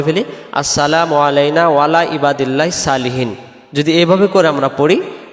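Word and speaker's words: صالحين: আলাইনা ওয়ালা ওয়ালা মানে উপরে ইবাদিল্লাহিস আল্লাহর বান্দার সালেহীন নেককার বা সৎ সলিহীন শব্দের অর্থ হলো নেককার বা সৎ তাহলে এটাকে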